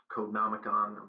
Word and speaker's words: Codenomicon: Eventually, members of a Google security team and the Finnish security company, I believe it's pronounced Codenomicon, discovered the flaw.